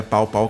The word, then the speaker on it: Pao Pao: não colocaram o tio eu creio que a pronúncia certa no final das contas é pau pau é mas muito legal